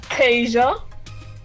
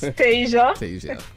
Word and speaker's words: Tesia: go by the name tasia so yes benjamini was pronouncing it a bit wrong it's tasia a t e with a spanish accent s-i-a taser um i compose